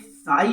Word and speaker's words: psi: इसमें टर्म्स का मतलब ये है कि ये साई, जो ग्रीक लेटर आप साई देख रहे हो, पी साइलेंट होता है, ये ग्रीक अक्षर है साई, इसको वेव फंक्शन बोला जाता है।